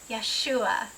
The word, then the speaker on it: Yeshua: we're going to say it yahua yua yahu Yeshua Yeshua the rightful King the bridegroom the son